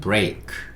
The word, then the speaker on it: break: 마지막이 E예요. E로 끝나는 단어는 E가 묵음이잖아요. 아닌 경우도 간혹 있습니다만 거의 한 95% 이상은 그렇습니다. 그래서 그냥 E는 묵음이라고 보시면 되고요. K 혼자 소리 내야 되니까 의 소리 달아줄 거예요. 그래서 요거는 break 이렇게 읽으시면 되고요.